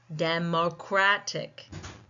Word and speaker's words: democratic: So let's look at democratic. Democratic. We see that the second last syllable is taking the stress and we see that little marking on our phonetic notation as well.